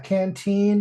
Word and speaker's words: canteen: Yeah, canteen is accented on the second canteen. syllable.